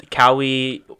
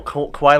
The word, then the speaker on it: Kawhi: That guy Cowie cried. No, Kawhi Leonard.